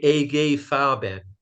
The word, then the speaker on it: IG Farben: your viewers uh edification they say a gay foul bad that's how if anybody's bothered that's how the Germans pronounces I'm not a German